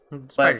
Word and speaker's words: SPDR: SPDR. Spider But suit. the way it's spelled is that it's SP and then Hmm. DR, but in the middle are two lines, so it looks like spider.